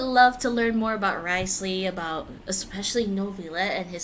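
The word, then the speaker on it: Wriothesley: Well, I'm Because the excited to characters learn are more about what- Risley. Risley apparently is how you say his name.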